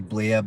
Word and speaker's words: Blea: His name is actually Blea, but it's spelled B-L-E-A, like flea.